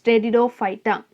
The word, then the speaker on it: Pteridophyta: So the next division is called as Pteridophyta. So P is silent here, so it's Pteridophyta.